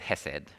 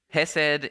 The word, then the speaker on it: Hesed: Sometimes it's spelt with a K or a C at the start and pronounced with a bit more phlegm. But for the sake of me not struggling with the accent, we'll just stick with Hesed.